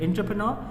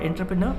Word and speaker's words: entrepreneur: Entrepreneur is someone who starts a new business, especially when he sees a new opportunity. So we have one more word, and pronunciation would be, it's not entrepreneur, it's entrepreneur.